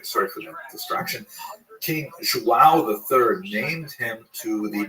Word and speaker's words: João: I used to think it was João, like when the baby was born, the mother would say, João, it's a boy. But it's actually João.